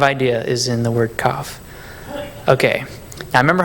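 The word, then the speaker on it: כף: We're going to have letter kaf. It's just a little, like a backwards C. Maybe that could help you remember the pronunciation of it because it's a K sound, like K, like a hard C.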